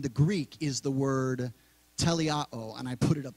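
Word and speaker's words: teleioō: that word in the Greek is the word telle Otto and I put it up there because I was gonna forget how to pronounce it it's spelled te le I oh and it's pronounced le Otto and that word perfected means accomplished finished fulfilled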